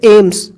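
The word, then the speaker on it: AIIMS: जैसे एम्स अब इसको थोड़ी ना बोलते हैं ए आई आई एम एस ऐसे थोड़ी बोला जाता है। एम्स डायरेक्ट बोला जाता है। एम्स हुआ हम एम्स हो गया।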